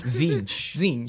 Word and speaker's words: Tzeentch: How do you pronounce that? Tzeentch.